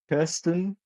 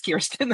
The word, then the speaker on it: Kirsten: You can lean into the it's technically Scandinavian, so you can lean directly into the Kir and and the that very European pronunciation, which fun fact actually